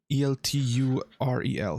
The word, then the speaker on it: Elturel: Elturel, the one that How'd you spell that? fucking Al- disappeared. ELTRUEL. I believe. I didn't. Elturel. Okay. Yeah. Oh no, it's ELTUREL.